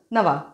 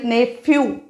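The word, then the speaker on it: nephew: भावंड वेग शब्द परत नवा पुढ नेव पुतण्या याचा उच्चार विशेष करून लक्षात ठेवा नेवू उच्चार है नेवू जरी पी एच ई W spelling असेल तरी ने फ्यू फ्यू नहीं ये तो ू है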